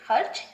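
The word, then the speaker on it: خرچ: अब इसी तरह से खर्च, खे रे जबर चे, खर्च, रे को आधा पढ़ा गया है।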